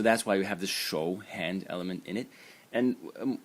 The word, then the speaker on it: 手: And the semantic element is this character over here, which is pronounced 手, and it means hand.